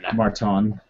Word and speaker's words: Marton: minutes making Martin jokes, his first name is spelled Marton. Oh shit, Martin. Marton. That's my bad. I didn't Martin actually Marton. know that until I looked it up. Marton, it's Csokas. Sokas?